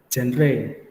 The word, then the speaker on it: genre: Tetapi sebenarnya dalam bahasa Inggris kita ngomongnya bukan genre, tapi genre.